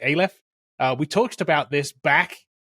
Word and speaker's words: Aleph: I think that's how we've decided we were going to pronounce it, Aleph.